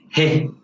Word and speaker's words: ه: Let's start with the easiest one, he. This is pronounced exactly the same way as you would pronounce the letter H in English. In words like horse, house, how, hello, and other words.